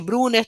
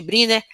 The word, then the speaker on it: Brunner: Tem gente que chama de Brunner, tem gente que chama de Briner. A nomenclatura não importa, a pronúncia aqui não importa, até porque é o nome alemão, um sobrenome alemão.